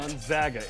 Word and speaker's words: Gonzaga: That's how you say it, by the way. It's not any other way. The Zogs. What? Gonzaga.